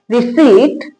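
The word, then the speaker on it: receipt: जैसे इधर पढ़ेंगे इसको आर ई सी के बाद पी के बाद क्या आ रहा है? टी आ रहा है तो साइलेंट रहेगा।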